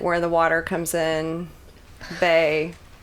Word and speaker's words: bae: the water comes in BAE rhymes with slave I I don't know